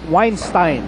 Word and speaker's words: Weinstein: Set the record straight it is pronounced weinstein to team manager vir V as in the piano weinstein piano weinstein um rymes with wine well we know weinstein